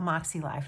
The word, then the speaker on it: MäksēLife: way that you spell moxie life it's kind of a funny looking word it's m a k s e l i f e pronounced moxie like m o x i e so without any further